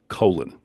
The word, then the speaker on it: Coughlin: Please welcome Coughlin. Did I say it right? Thank you. Colin? You did indeed. Yeah, Coughlin.